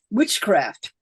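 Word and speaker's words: wiccecræft: then of course there's w-i-c-c-e craft which is pronounced witchcraft uh the Double C in Old English is pronounced so if you have uh which apparently Gerald Gardner did not know so if there is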